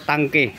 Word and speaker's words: Tanque: bakit hindi natin i-try itong keso tank version 2 or tangke yun po ang kanyang tamang pronunciation Ayan ' ba para